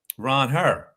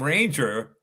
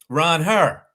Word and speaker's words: Ranger: And when I first saw it, I said, "Well, they anglicized his name because really it should be pronounced Ronhur." Yeah. Be if and so I thought Ranger was a way that